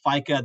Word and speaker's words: FEICA: if your members have locations in Europe or just generally want to know what's going on in Europe, they can visit FICA. That's spelled FEICA.EU.